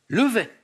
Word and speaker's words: Levet: Thomas Levet. Avec un T à la fin, je ne crois pas qu'on prononce Thomas Levet.